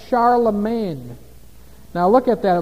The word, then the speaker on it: Charlemagne: title he was called Charlemagne now look at that it looks like Charl Magne doesn't it Charlemagne that's the French pronunciation Charlemagne they don't say the G there okay looks like Charla